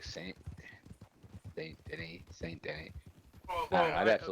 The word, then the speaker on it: Denis: His name is spelt the same way, but it's pronounced Denis. Oh wow. En français.